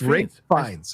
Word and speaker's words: Ralph Fiennes: You still got his name wrong. It's Ralph Fiennes.